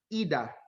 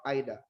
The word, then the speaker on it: Ida: by the three goddesses you have mount eda or if you wish you could pronounce it as mount ida what is the name